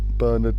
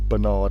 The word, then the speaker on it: Bernard: the PO office pathologist Professor burn Bernard Knight or Bernard as you Americans say cuz you're weird Professor